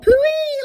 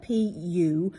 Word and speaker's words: Puy: These sometimes are called Puy lentils, which is a bit funny, isn't it? It's spelled P-U-Y though, not W. P-U-Y, Puy lentils.